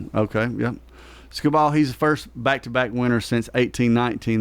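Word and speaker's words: Skubal: Scubal.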